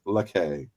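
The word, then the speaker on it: Lacchei: It's pronounced Lakay. Zoe Lakay. Lakay, thank you.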